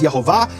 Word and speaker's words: Yehovah: But he received this as a tradition that the true pronunciation of the name is Yehovah, and the way he was told to remember it is these mnemonics and other devices. It helps us preserve the vowels. So if we know that the acronym is Shachak, which is Shva, Cholam, Kamatz, and it rhymes with the vowels of Le'olam, which is Yehovah, there's no way you can get it wrong.